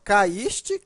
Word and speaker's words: caíste: cair não é acentuado veja que a pronúncia é mesmo caíste cair né ue é forte nos dois casos o está formando hiato